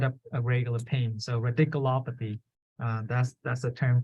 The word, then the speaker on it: radiculopathy: um so so ridiculous so you just say ridiculo and then pathing radiculopathy so you have to pronounce the law like lopathy so radical op try